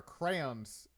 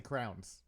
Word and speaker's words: crayon: a very long time, and she there are crayons in the box that are older than my There are wife. what? Crayons? There. Excuse me. Crayons? Hmm. Interesting. Yeah, And how do you say that? I say crowns.